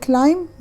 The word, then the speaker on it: climb: طبعا الفعل climb يتسلق، البي ما تلفظ.